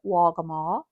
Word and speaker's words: Waccamaw: Yes, we believe they pronounced it Waccamaw, almost a G sound for us.